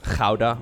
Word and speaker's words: Gouda: My favorite type of cheese is either Gouda, obviously, right? That's the pronunciation.